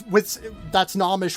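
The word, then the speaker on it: Gnomish: That's Nomish with a silent G in front of it.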